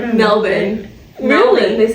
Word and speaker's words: Melbourne: his burgers all over Melbourne, and I love Melbourne. Say it right. I can't even say it. Wasn't it Melbourne? Or Melbourne. Melbourne. They say Melbourne. Yeah. I don't even know if Melbourne. They say Melbourne. Ew, it's spelled Melbourne, but it's Melbourne.